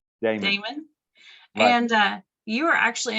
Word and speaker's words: Daemen: today with how do you say your last name damon and uh you are